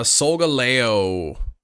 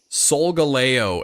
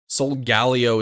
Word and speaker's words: Solgaleo: gold quite yet yeah I believe it's solgaleo and I know some people say solgaleo which is not correct solgalio is not the correct way to say it but some people say